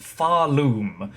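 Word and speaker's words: Pharloom: The location is pronounced Faroom, and the region was ruled by a race called the Weavers.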